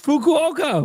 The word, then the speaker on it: Fukuoka: It's Fukuoka.